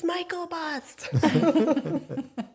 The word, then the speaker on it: Myklebust: comes up to hit, they say the last name wrong every time. And my daughter's in the background like, it's Myklebust. That's so cute. So, Sorry. Go on. Myklebust, it's great to see